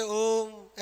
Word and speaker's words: ओम: तीन बार फिर मा ओम कैसे बोलते ओम ऐसे या ओ मा ऐसे बोलते है ओ का उच्चारण लम्बा होता है ना इसलिए ये क्या है प्लुत स्वर है ओ का उच्चारण तीन